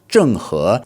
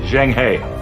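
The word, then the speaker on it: 郑和: So, Zheng He was born in the year 1371 AD and his name is pronounced Zheng He, so fourth tone and then second tone in Mandarin.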